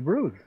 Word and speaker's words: bruise: It's a bruise. Bruise? Yeah. Bruise, or how to pronounce it correct? Can you speak more with... It's a bruise from sparring. Sparring, ah. Bruise, like Bruce Willis.